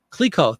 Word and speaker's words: Clicquot: Clicquot, thank you very much. Dawn Wright, representing our French pronunciation.